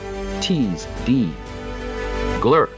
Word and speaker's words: Ziegler: In German, the letter Z is pronounced "Tse". To an English-speaking clerk in colonial New Jersey, hearing a new arrival say his name, "Tse Dee Glur", the natural spelling was phonetic. Seegler.